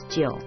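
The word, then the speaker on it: 九: by the emperor, and 9 in Chinese is Jiu, which sounds like the word for longevity.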